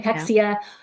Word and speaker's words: cachexia: cachexia.